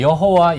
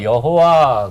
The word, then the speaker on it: 여호와: 그래서 여호와 그럴 때에는 아도나이라고 하는 모음점을 거기다가 자음에 붙여서 부르다가 보니까 여호와 됐는데 학자들은 아도나이라고 하는 모음점을